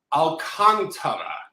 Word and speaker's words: Alcantara: So you said Alcantara. Alcantara. Alcantara. It's apparently Alcantara. So Sandy Alcantara.